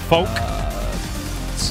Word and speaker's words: Falke: 1 2 third character yep halfway through now poke is that how it's pronounced yep poke fault I saw the pronounce